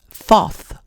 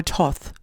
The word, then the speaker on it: Thoth: the deity known as Thoth or Toth depending on how you say it associated with the Emerald